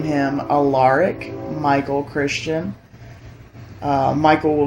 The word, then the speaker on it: Alaric: be like i guess the traditional uh pronunciation is alaric but i like alark better and so if we have